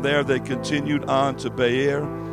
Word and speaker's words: Beer: they continued on to Bayer it's spelled beer but we can't say beer in church right so we'll just say Bayer it's funny the name